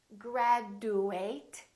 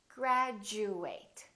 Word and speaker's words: graduate: nature nature picture this also happens when Addie is followed by a you this change also happens however it's slightly different instead of saying chew it sounds like we're saying jus for example we don't say graduate it sounds like we're saying graduate repeat after me graduate graduation